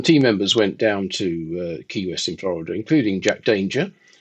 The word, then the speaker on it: Key West: in Key West, Florida, which is apparently, I'm told, pronounced Quest rather than Key West, which is how I originally.